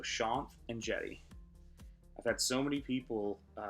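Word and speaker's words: Shanth Enjeti: that name is pronounced it's Sean as in Sean so Sean and jetty I've had so many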